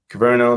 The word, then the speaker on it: Kyverno: Kyverno.